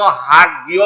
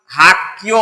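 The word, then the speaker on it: 학교: এই জন্য হাক গিয় বলবো না, হাক কিও বলবো। হাক্কিও মানে স্কুল।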